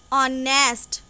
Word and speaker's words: honest: Don't look at the word H. H को ना देख के इसकी pronunciation को देखना है. Pronunciation is honest.